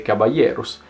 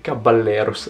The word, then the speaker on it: Caballeros: il cavaliere o caballeros la pronuncia corretta ovviamente cabaye eros anche se non nego che caballeros abbia quel fascino proprio delle parole che ti riempiono la bocca quest'anno il trio formato